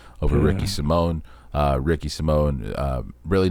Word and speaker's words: Simon: That's just when I saw the Simone on its own without the Ricky part.